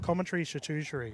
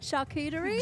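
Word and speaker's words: charcuterie: If my table's big enough, I'll gladly have a Maybe I should start a new movement, viewers, of commentary shusher. Is that how you say it? Shakuteri.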